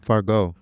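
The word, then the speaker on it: Fargeat: How do you say the last name? Let me see it. I said Forget. it's French though, so I know I'm wrong. Fargo. Fargo. Thank you.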